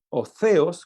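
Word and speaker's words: θεός: una palabra que es te os óseos como lo pronuncian algunos la th como si sonara como una zeta la palabra ateos que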